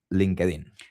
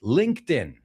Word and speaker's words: LinkedIn: Because everybody, I think, in Spain is pronouncing it wrongly. It's LinkedIn. My ears are bleeding right now, Damian. It's LinkedIn.